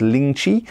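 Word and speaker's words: lingzhi: and now the mushroom please forgive my chinese pronunciation but i think it's ling chi something like that and the the gourd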